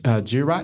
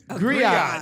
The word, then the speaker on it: griot: She is our community Girat. That's how you say it, right? Girat? Piper. Gerard. You know, the African person that goes around with the information. Wow, man, why you gonna pick a... Griot. Yeah, there you go, Griot.